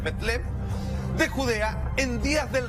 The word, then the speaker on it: Belén: San Mateo, capítulo 2, versículo del 1 al 3 dice: cuando Jesús nació en Belén, cuyo en realidad pronunciación es Betlem, de Judea, en días